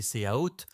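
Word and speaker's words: צבאות: Et puis il y a le mot hébreu original prononcé séaot, souvent traduit par armée ou hôte.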